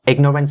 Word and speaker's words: ignorance: And for the word ignorance, make sure that you have the g sound right there. Ig. For the first syllable, the g sound has to be stopped. Ignorance. And don't ever say ik, because it's not the k sound.